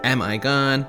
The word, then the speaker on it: Amm(i)gone: Amigon is a combination of the words, the Urdu word for mom, which is Ami, and the Greek tragedy Antigone, Amigon. But people say it Amigoni, Am-I-Gon, it's all welcome.